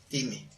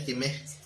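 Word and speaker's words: τιμή: Bueno, de esa manera en que se escribe, así se pronuncia la palabra griega que significa honra, time, con acento en la E, time.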